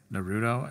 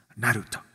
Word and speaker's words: Naruto: Or I think I said Naruto, and she's like, I thought she was gonna hit me. She was like, that's not how you pronounce it. It's Naruto. And I can't really say it the way that she said it.